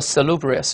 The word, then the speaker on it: salubrious: 叫做 salubrious，注意在第二音节啊。